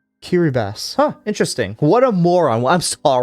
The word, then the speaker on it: Kiribati: You pronounced it wrong. I'm going to jump you now. How does it How is it pronounced then? Kiraabass. That is crazy. That is crazy. Like, huh? The T makes an S sound.